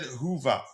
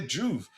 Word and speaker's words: Juve: And Juve says, I said Hoover, Juva. Okay, Juve. Because how you pronounce the O's.